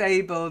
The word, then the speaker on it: Abel: Yeah, Abel. Yes, Abel, not Abe, Abel.